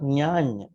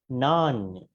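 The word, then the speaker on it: nāñña: Again, not nyanya. Should be nanya. Okay? Not nyanya. Nanya.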